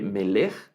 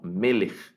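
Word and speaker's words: מֶלֶךְ: me le da igual el acento en la primera sílaba no se lee miller sí no meles meles y la palabra me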